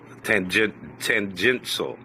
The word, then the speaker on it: tangential: So it is a shoal. Tangential shoal. Tangential. Tangential. There's no S. It's not tans.